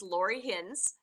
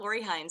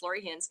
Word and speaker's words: Lori Hinz: name of course is Lori hins and it's pronounced like pins and needles it's not Lor Hines it's Lori hins I am a pot